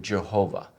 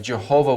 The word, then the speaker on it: Jehovah: And when they did that, they came up with the rendering Jehovah. Now, the problem with that is that those vowels do not belong to the word Yahweh.